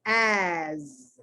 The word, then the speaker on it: as: But then there's as. That S is pronounced like a Z.